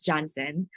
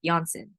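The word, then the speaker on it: Janssen: usually mispronounce this as johnsen but since this is a pharmaceutical company from Europe it is actually pronounced as Jansen so Jansen coid 19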